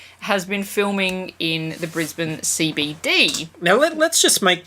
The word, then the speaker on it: Brisbane: ] spell mm-hmm but we here don't say brisbane know which is how it is spelled yes we say brisbane brisbane same reason Mel been so imagine that